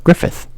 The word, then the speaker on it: Griffith: How do you say that? Griffith? Yeah, Griffith.